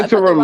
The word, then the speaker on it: interim: Yeah, interim is right. Emphasis on the wrong syllable.